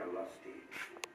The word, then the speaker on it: Olustee: and campaign, filmed on the very battlefield at Olustee.